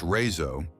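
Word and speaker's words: RÉSO: The Razo, pronounced Razo, is a massive network of climate controlled tunnels,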